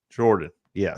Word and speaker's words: Jordan: It's pronounced Jordan, right? Not Jordan? Jordan, yes. Jordan.